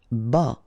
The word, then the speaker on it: bas: Bas, final S not pronounced. À taille basse, okay, so basse, final E not pronounced, but then you pronounce the double S, so S, basse.